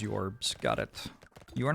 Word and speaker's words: JORBS: Pronounce JORBS as yorbs.